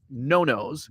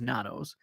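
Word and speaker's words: Nonno's: last night we went to a place called no-no's which I had been mispronouncing it uh it's spelled n-o-n-n-o-s and uh uh I thought it was Nanos uh it's Italian it's probably the best it's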